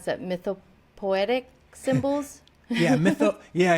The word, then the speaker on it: mythopoetic: I was going to ask you about that, about the symbolism and the allegory that you mentioned about how do you pronounce that? Mythopoetic symbols?